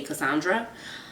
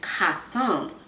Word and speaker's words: Cassandre: came to the US my teachers did not know how to pronounce my name so they say Cassandra whereas in French is costumed and I guess they